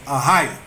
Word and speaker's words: Ahayah: And it's Hebrews 1961, and it is Ahiah. Spell it for him.